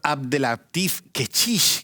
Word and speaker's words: Abdellatif Kechiche: La vida de Adele, dirigida por Abdelatif Kechiche, que hay que pronunciarlo bien, porque siempre lo hemos llamado Kechiche así en la cercanía.